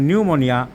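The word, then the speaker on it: pneumonia: উচ্চারণ হয় না যেমন নিউমোনিয়া পি লিখতে হবে কিন্তু পি এর উচ্চারণ হবে না যেমন সরিক পি এর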